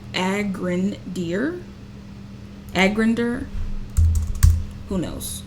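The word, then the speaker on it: Agrandir: so this is actually nice so let's download aggra deer and use it as a contender and maybe I'm pronouncing this wrong agren deer Ager who knows it's fine a G all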